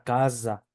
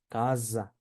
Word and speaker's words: casa: va en medio de cuando va en medio de vocales donde se pronuncia como una s vibrada Entonces tenemos la palabra casa Sí casa y como va en